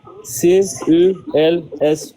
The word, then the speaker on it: Celse: Celus s'écrit C e L S U S Celsus. En français, on dit celse, c'estàd c E l s E. Cels en français, tu vois.